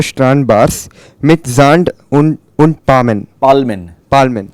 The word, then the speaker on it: Palmen: Palmen. Yeah, the L has to come out in German.